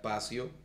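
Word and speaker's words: passio: Según el diccionario, la palabra pasión proviene de una palabra en latín que se pronuncia pasio, que significa sufrimiento o entrega profunda.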